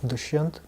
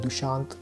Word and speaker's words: Dushyant: I let them, it should be pronounced, to be clear, Dushyant. But what people tend to do is they do Dushant because whatever, like it sounds like Deshaun or Sean, whatever it may be.